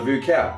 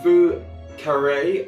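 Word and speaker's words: Vieux Carré: from there uh the voucher um roughly translated roughly translated the vu carray as i've literally just learned i've been saying it wrong for the past 10 minutes so sorry everyone voucher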